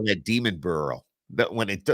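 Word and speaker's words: Demonbreun: pronounce it go oh this is demon burrow not deuman so oh yeah yeah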